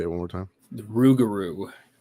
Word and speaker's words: Rougarou: bayous at night looking for a I can't pronounce the name. Can you say it one more time? The Rougarou. Rougarou.